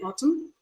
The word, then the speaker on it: autumn: M sound being realized so it's also silent in autumn but it's present in autum now can you see okay columnist is there in columnist but it's not in column take note of all